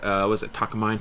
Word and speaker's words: Takamine: They're like uh was it Takamine? Takamini.